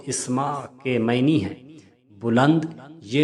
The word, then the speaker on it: اسماء: پر نام ہے اسماء۔ اس نام کا درست تلفظ اسماء کے معنی ہے بلند۔ یہ نام بہت ساری